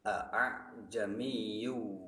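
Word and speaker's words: ءَأَعْجَمِيٌّ: Ketentuannya, hamzah pertama dibaca secara jelas, sedangkan hamzah kedua dibaca samar. Contoh tasil terdapat pada Al-Quran surah Fussilat ayat 44, di mana dalam lafal tersebut tertulis kalimat a'jamiyyu wa arabiyyu, maka dibacanya Bismillahirrahmanirrahim.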